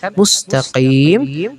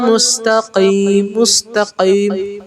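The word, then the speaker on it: مُسْتَقِيم: Nah, di huruf qa ini maka cara bacanya adalah bukan mustaqim tapi qa. Agak dimedokin lagi. Ihdinas siratal mustaqim. Kalau ka mustaqim, kim di atas langit-langit ini. Kalau qa dia dihentakkan ke belakang anak lidah. Qa. Kira-kira kayak gitulah ya, paham lah kan maksudku. Jadi bukan cara bacanya bukan ka, tapi qa.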